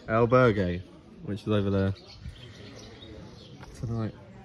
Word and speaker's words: albergue: in a how do you how do you pronounce it again albert alberg el albergue which is over there tonight watch the charlotte's